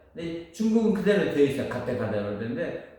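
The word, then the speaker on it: गते: 파라 가테, 이게 아재인데, 아재는 그게, 주문이 안 돼요. 그게 주문이 되려면 발음이 정확해야 돼요. 근데 중국은 그대로 되어 있어요. 가테로 되는데, 우리는 한역으로 되면서 아재로 발음돼요.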